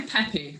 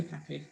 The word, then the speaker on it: Pepi: how did you say it joe i say peppy i just say peppy right pepe pepe collection yeah yeah that's right